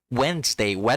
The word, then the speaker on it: Wednesday: Wednesday. It's written Wednes, but it's pronounced Wens. So that's weird.